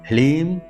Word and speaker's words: ह्लीम: यहाँ पर ह्लीम है, ह्रीम नहीं, ह्लीम, लीम, ह्लीम श्रीम क्लीम, यहाँ पर क्रीम नहीं, बहुत से लोग क्रीम कहते हैं, क्रीम नहीं, क्लीम नमः।